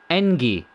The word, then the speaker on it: NG: Engi is how you pronounce it, apparently.